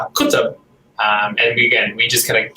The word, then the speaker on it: Qutub: And our last name is Qutub, which is in Arabic Qutub. And we just kind of keep it easy for people and say Qutub because it's kind of how it looks when you spell it.